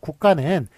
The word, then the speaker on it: 국가: 국가는 요거는 이제 된소리되기 현상이 일어나는군요. 예, 그래서 국가 이런 식으로 발음되죠.